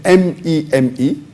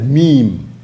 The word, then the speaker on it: meme: of the word is m-e-m-e it's pronounced as meme m-e-e-m but the spelling is m-e-m-e it's not pronounced as